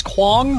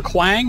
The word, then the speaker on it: Kwang: new hero out uh his name is Quang or Quang however you want to pronounce it um I've seen him